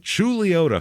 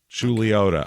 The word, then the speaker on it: Chuluota: go this is and I got to say it right julota Florida yeah which is spelled c h u l uo t uo t u CH that's Lee somehow chiota I don't know that's just how they say it down there so um it is